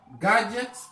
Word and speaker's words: gadget: Gadgets. D aussi ne se prononce pas là.